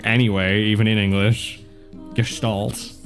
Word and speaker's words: Gestalt: And this is the American pronunciation. Gestalt. Gestalt. So, I've been saying it wrong anyway, even in English. Gestalt.